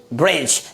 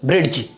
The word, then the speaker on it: bridge: अगला example BRIDGE, क्या पढ़ेंगे, ब्रिज, ना कि ब्रिड्ज, क्या पढ़ेंगे, ब्रिज।